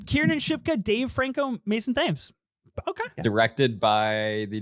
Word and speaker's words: Thames: it's Mason it's Thames. not. He's not English. It's not the Thames. It's Thames.